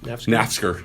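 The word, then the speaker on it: Naftzger: How do you pronounce that park's name? Nafsker.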